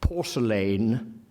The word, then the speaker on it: porcelain: Eliot's pronunciations, I'll just say, he prefers always, not quite, I'm going to qualify it, he prefers instinctively a strong pronunciation. Porcelain, not porcelain.